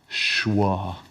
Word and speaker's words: schwa: that this word is schwa schwa okay thank you I've never seen it written down it's said the way it's spelled yeah schwa but thank